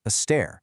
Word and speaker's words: Aster: Now, in English, her name sounds like a flower or a star. But in Amharic, her name is pronounced astair, meaning a staircase.